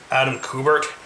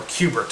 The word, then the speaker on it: Kubert: Or Kubert, I believe it's called, and pronounced like the video game.